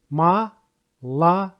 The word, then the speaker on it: молоко: Ma-la-ko. It has three syllables, with the first and the second syllables have no stress. That means they will have sound a.